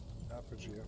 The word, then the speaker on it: Apogeia: I don't know how to pronounce this. Apogeia.